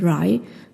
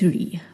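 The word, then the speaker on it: Rhy: So Ree's name is spelled R-H-Y, right? So I think this was the first time I saw that name. And I always used to pronounce it as Rai, but it's Ree.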